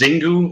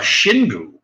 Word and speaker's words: Xingu: I thought it was Xingu like with a Z and it's actually pronounced Shin GU which makes it sound like it's you know Asian or something I thought